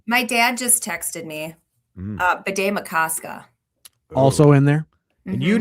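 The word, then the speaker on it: Bde Maka Ska: But the way I remember it is it sort of has the cadence of Lake Itasca, Bidet Makaska.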